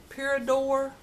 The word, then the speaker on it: Pura d'Or: this a pura d'Or I think that's the way you pronounce it parador Parador they contacted me and